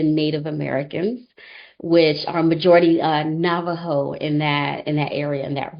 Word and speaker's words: Navajo: It's called the Heard Museum, and it's based off of the history and the culture of the Native Americans, which are majority Navajo in that area, in that region.